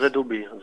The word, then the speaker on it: ZOB: On prononce ZOB.